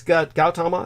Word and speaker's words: Gautama: It's Gautama is okay? Gautama? They pronounce the G with a hard G?